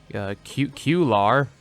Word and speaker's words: Cuellar: follow along with what I was reading Joey cute Q lar that's how you say his name was very